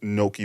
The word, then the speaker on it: gnocchi: I make a mean gnocchi bolognese. Okay, you fancy. Yeah. I don't even know how to spell gnocchi. G-N-O-C-C. It's with a G? Yeah. It's spelled with the G. Silent G.